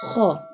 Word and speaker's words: خ: Kha. This one kha pronounced from the top part of the throat.